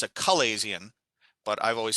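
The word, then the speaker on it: chalazion: a little balloon almost and it's called a chilesian or properly it's a calaisian but i've always said chilazi and either way i don't care the pronunciation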